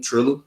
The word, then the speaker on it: Triller: Yeah, I think mostly everybody on Thriller. And yeah, I got Thriller too. Boom, Triller. Oh, it's called Triller.